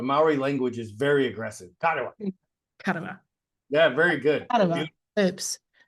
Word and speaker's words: Karewa: I've decided to pronounce it mana, like the Maori word mana, because I love that energy. Yes. But Karewa.